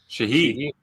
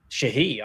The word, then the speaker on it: Sheehy: Shahi. Shahi.